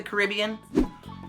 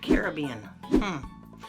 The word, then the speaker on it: Caribbean: Have you ever been to the Caribbean? Or is it Caribbean? No worries. Either way you pronounce it, it has a rich history of mystery, adventure, and buccaneers.